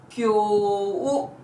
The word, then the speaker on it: きょう: Today, kyou. There's a long vowel at the end, hence the word would be pronounced as kyou.